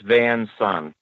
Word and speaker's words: Van Son: to be here all righty um did I pronounce that correctly by the way yeah it's Vance on OK and the is that Genesee Valley yes